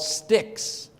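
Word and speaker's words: stichs: So Hebrew poetry was divided into lines, and each line was broken into 2 or more parts called sticks. S-T-I-C-H-S, pronounced stick, like a stick, breaking a stick.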